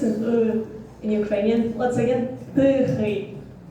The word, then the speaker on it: тихий: Тихий.